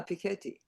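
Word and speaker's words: Piketty: Is it Pik Petti? Yeah, Piketi. I I am mispronouncing it.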